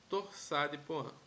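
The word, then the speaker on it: torsade de pointes: polimórfica se for longo torça de poan assim que se pronuncia é o nome francês ok a gente aprendeu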